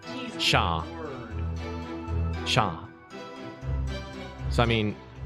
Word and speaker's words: chat: In French. Chat. Chat. Shaw. Shaw. Shaw. Shaw. Yeah. It's C-H-A-T, and C-H makes a S-H sound, and they don't say T's Shaw.